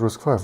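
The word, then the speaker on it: RISC-V: we have we have risk five we call it risk five right does does someone call it risk V so we have risk five but SP V okay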